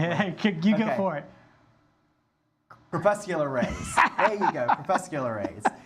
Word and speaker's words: crepuscular: Crepuscular rays.